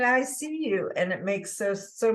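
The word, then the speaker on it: ISEA-U: I I was like i-s-e-a Dash U and she said you know I think they're pronouncing it I see you and it makes so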